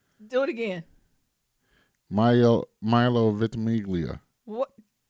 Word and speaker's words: Ventimiglia: Ventimiglia. Do it again. Milo Ventimiglia.